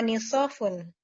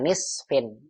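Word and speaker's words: نصف: Samanuhu sab'atu riyalatin wa nisafun. Bukan, wa nisfin, bukan nisaf. Apa sih artinya Ustaz?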